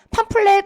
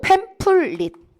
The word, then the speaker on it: 팸플릿: 반이고 애들이부로 가고요 자 팜플렛 아니고 팸플릿 자 그리고 5번 꽁트